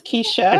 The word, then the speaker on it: Kesha: I'm doing well, and it's Keisha. It's Keisha. But don't worry, that is the story of my life. That's why you put it in all your writing stuff. You always have it phonetically.